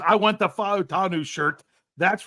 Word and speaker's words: Fautanu: Okay, it's very simple. Every vowel gets a syllable. So you have to pronounce every vowel with its own syllable.